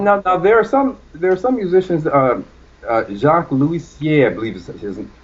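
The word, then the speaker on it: Jacques Loussier: Jacques Louisier, I believe is how his name is pronounced.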